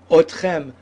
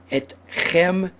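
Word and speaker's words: אתכם: otach, oto, ota, and you would think you would continue with otchem, but no, correct pronunciation, and I don't want to repeat it again, and I encourage everyone to say it correctly from day one.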